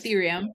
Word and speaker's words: Ethereum: and you talked about ethereum did I say it correctly yes ethereum now um are there